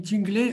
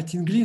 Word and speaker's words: Тингли: Потом вот, это действительно не тинглей, а тингли надо говорить, правильно, Фархад?